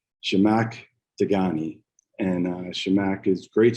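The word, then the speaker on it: Zhamak Dehghani: uh i thank you the way you say her name is uh jamaic dagani and uh shamack is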